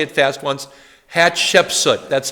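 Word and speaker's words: Hatshepsut: throne is this woman hat shepsut hat Shep soot hat Shep soot let's say her name together hat Shep so now say it fast once hat shepsut that's how you say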